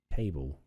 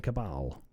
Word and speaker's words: Cabal: A sharp, polished steel sword gives us plus 45 reputation with a Mixotafian cable. Oh, the Mixotafian Cabal is how you would pronounce that if you weren't a total idiot like I am.